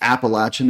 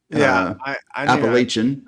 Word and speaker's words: Appalachian: Appalachian order I mean I think you did fine pronouncing that except that uh it's Appalachian and not Appalachian I know I'm Pennsylvanian